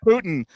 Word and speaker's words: Putin: They're like, "You're saying it wrong," and I'm like, "I am. It's not You know what? Putin. It's Putin."